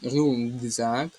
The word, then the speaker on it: рюкзак: У слові рюкзак тут глухий приголосний К стоїть перед дзвінком З. І цей глухий приголосний К перетворюється на звук ґ. Отже, буде ргзак, агрус і ґрунтознавець. Тут буде звук ґ, а не К.